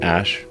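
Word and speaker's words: Æ: X um and then the AE is like pronounced Ash um that's a very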